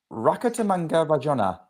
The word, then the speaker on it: Rakotomanga Rajaonah: Um Sarah Rakatamanga Rajanna is the Sao Paulo Open Champion. Um and yes, I did check the WTA pronunciation before we went live.